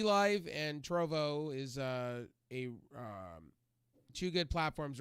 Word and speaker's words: Trovo: Trovo?